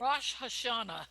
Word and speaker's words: Rosh Hashanah: Am I pronouncing that right? Rosh Hashanah.